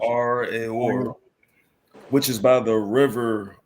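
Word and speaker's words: Aroer: That's how you pronounce it. Arior, which is by the river Arnon, even Gilead and Bashan.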